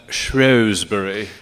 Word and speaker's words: Shrewsbury: The British pronounce that Shrewsbury.